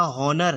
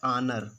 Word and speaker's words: honour: जैसे और भी देखिए, जैसे यहाँ पे लिखा है HONOUR, इसको देखो लिखा हॉनर है, लेकिन दोस्तों इसका उच्चारण होता है आनर।